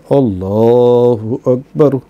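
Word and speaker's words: الله أكبر: আল্লাহু আকবার শব্দ দুটোর আলিফে জোর দিয়ে উচ্চারণ করা এবং হাকে সামান্য টানের অভ্যাস দিয়ে উচ্চারণ করাটা ভালো। আল্লাহু আকবার, বুঝেছে?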